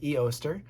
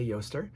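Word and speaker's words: Ēostre: called sometimes called yer it's spelled EO St and some people will say eer uh I say Yer uh it's a um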